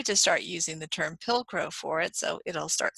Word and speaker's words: pilcrow: way it's it looks pill just like you swallow a pill and crow just like the bird so anyway I will try to start using the term pilcrow for it so it'll